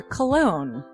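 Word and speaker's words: Colon: It is a self-published book by Christopher Cologne. Chris Cologne smells good to me. But look at her. That broke that fucking cold little exterior. He's like, hee. But it is spelled C-O-L-O-N.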